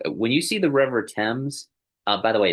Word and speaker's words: Thames: When you see the River Thames, by the way, it's Thames, not Thames. It's spelled Thames, but it's pronounced Thames.